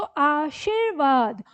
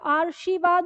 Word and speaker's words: आशीर्वाद: शब्द लिखा गया है तो ये जो र यहां पर है तो इसका उच्चारण यहां पर है तो आशीर्वाद और इस शब्द को उच्चारित करें तो ये यहां र लगने के बाद उच्चारण यहां हो गया तो आर्शीवाद हो गया ठीक है तो आपको